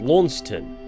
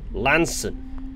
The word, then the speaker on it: Launceston: including myself you see I thought this place was called Launceston as per his spelling but no it's according to the Cornish Lanson it's a nice little